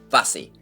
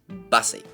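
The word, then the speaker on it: Busse: far as I know it is in fact pronounced busy not b or anything like that busy but anyways the route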